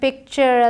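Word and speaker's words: picture: जैसे मैंने कहा ALL ऑल बोला जाएगा, वैसे ही TURE चर बोला जाता है। पॉस्चर, पिक्चर, लेक्चर, फ्रैक्चर। आसान हो गया, इसे टुरे नहीं बोलेंगे। आपने एक जोक भी सुना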